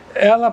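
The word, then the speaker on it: אל: Se pronuncia El.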